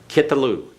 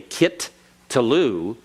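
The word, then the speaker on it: קִטְּלוּ: When you pronounce it purely, quickly, you can't really hear the two T's. But you've got to remember that there are two T's there. Because if you don't remember there are two T's there, it's going to foul up your understanding of the word and its formation. Okay? So regardless of whether you can hear it in pronunciation, you've got to remember that's doubled.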